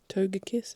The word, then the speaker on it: Togekiss: Togekiss is how you pronounce it.